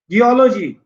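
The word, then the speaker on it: geology: जियोलॉजी, एक दो तीन, ओलॉजी पे स्ट्रेस।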